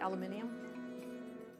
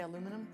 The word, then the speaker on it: aluminium: We call it alfoil here, but when you pronounce, well, aluminum is actually pronounced, I think, aluminium. But for some reason, we say aluminum. It's supposed to be aluminium.